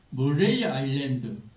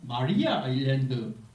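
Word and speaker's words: Maria Island: 그 중에 그 머레이 아일랜드, 머레이라고 하기도 하고 마리아 아일랜드 그러더라고요. 그래서 이 머레이라고 하는 것은 불란서식 발음이랍니다. 불란서 군대가 먼저 그곳에서 자리를 잡고 있다가 나폴레옹이 전쟁에 패하는 바람에 영국군한테 밀려가지고 그 타스마니아를 내줬다고 하더라고. 그래서 섬 이름이 두 가지인데 마리아는 영국식 표현이고 머레이는 불란서식 표기다.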